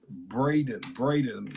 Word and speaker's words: Braden: It's Braden. Last night I was trying to tell you it's a long A.